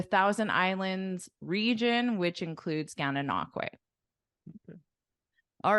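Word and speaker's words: Gananoque: How do you pronounce this one? Gananakwe.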